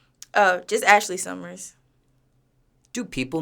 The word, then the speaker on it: Ashleigh: way to pronounce your stage name oh just Ashley Summers do people mispronounce this yeah I forgot where I was I was just somewhere and someone had called me like ash Leia and other people like don't really know how